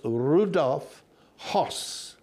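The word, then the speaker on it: Rudolf Höss: alitz his name was Rudolph hos now that's the way we would pronounce it in English not to be con uh confused with Rudolph hes Rudolph hos was a weird man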